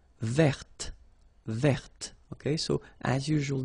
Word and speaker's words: verte: Feminine form, verte. So listen carefully. I don't say te, but it's t. Verte.